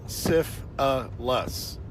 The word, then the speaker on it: syphilis: Syphilis is three syllables. Sif a lus.